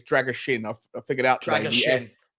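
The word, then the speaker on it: Drăgușin: Drager Shin apparently it's Drager Shin I figured out the S is pronounced with a h but um the point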